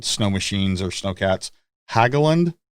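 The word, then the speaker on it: Hägglunds: we talk about snow machines or snow cats haggland hagland how do you pronounce that uh that's it it's a hagland so i actually own three of them but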